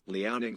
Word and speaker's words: Liaoning: Liaoning flying leopards, you fucking idiot.